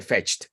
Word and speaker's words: fetched: Sería otra sílaba más, solamente que no se pronuncia la E, entonces se integra como una sola palabra.